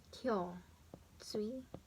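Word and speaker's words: 胸椎: And it's read as Kyo, Tsui. And then this one, the lumbar, Koshi, it's pronounced as Yo, Tsui.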